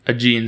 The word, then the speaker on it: Aegean: what the agent is a-e-g-e-a-n aegean aegean sea i think it's i think it's pronounced aegean and i think it's